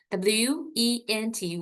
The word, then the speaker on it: went: So please make sure that you are pronounced wind no want. All right. W E N T went so went to the hospital. So actually in my students a lot of student are making a mistake of when and one uh similarly they are pronouncing right. So but went and want is me a sound want is open sound. Went is me up.